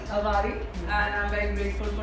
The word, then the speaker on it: Avari: Avari. Avari.